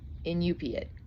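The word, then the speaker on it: Iñupiat: And it's Inupat. Inupit.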